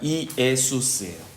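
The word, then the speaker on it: Ἰησοῦς: 원래 헬라어로 예수는요. 정확히 발음해 드리면 이에수스예요. 이에수스. 이에수스예요. 그래서 참 한국 발음이랑 똑같아요.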